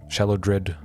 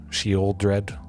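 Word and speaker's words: Sheoldred: trick i don't like shallow dread sheol dread as you you're supposed to pronounce it liliana croaksa greasfang you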